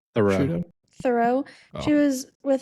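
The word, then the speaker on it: Theroux: Thoreau.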